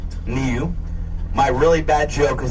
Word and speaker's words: niu: The Hawaiian word for coconut is niu. That's spelled n iu. Nu.